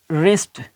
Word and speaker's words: wrist: बाद R या H, अगर W के बाद R या H आ जाए, ठीक है, तो फिर क्या कि W का हम साइलेंट हो जाएगा, तो W जो है, W ये खामोश हो जाएगा, ये प्रोनाउंस नहीं किया जाएगा।